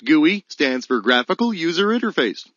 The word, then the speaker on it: GUI: GUI, pronounced gooey, stands for graphical user interface.